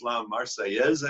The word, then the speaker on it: La Marseillaise: The national anthem is La Marseillaise, I believe it's pronounced.